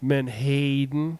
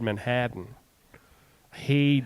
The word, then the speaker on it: menhaden: it but did you did you hear how I pronounced it correctly man hayen yeah I know remember a couple weeks ago I said Manhattan hayen oh yeah a hayen